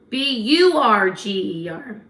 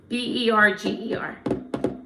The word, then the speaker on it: Berger: Burger. No. Berger. Yes. Not burger. What are you? Who's a narcissist? Berger. Bur would be a Jewish way to spell it.